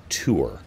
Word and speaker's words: Tours: there's a place called tour t-o-u-r-s it's spelled like tours but you don't pronounce the s in France I don't know why